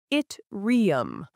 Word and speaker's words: Yttrium: Its name is Yitrium, pronounced it riium.